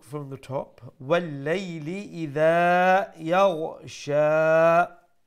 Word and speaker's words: يغشى: the top وَاللَّيْلِ إِذَا يَغْشَى make sure you pronounce the ghain with that softness and from top of the throat sha ended দিয়ে আমরা